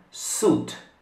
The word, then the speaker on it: suit: Sì, come precedentemente, la I non si pronuncia. Quindi suit. Suit.